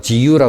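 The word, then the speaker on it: 自由: 어려웠던 단어가 자유였다 합니다 일본 사람들은 자유란 말을 지유라 그러잖아요 발음이 근데 그것은 방종이 이해했다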